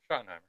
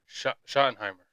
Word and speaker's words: Schottenheimer: Schottenheimer. Schottenheimer.